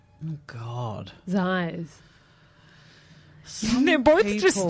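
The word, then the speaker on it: Xyz: So letters X, Y, Z, Yeah. pronounced Ziz. God. Zais.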